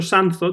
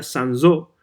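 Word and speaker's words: Sanzot: es la carnicería sansot yo siempre he dicho sanz o tal leerlo en en español pero claro en francés se pronunciaría sansó y por tanto en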